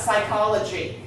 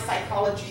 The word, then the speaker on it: psychology: all right what about psychology what letters are silent the p is silent the y is a